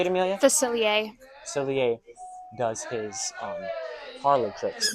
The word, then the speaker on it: Facilier: Facilier.